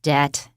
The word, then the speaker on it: debt: And please remember, we do not pronounce the B. It's debt.